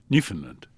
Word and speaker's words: Newfoundland: Ah from a transmitter in Cornwall to I'm going to pronounce this wrong. New Foundland. Newfoundland.